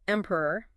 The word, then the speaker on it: emperor: Um, next we have emperor. E emperor. Again the first syllable is the strongest.